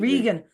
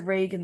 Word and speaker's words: Regan: who is an incredible, is it Regan or Reagan? I don't know if I'm pronouncing Vegan, it. yeah, me Regan. Regan. I pronounced it Reagan the whole entire review. Well, any of my followers who saw that, it's Regan. It's Regan.